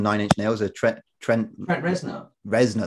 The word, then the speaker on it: Reznor: Reznor, that's how you pronounce his last name.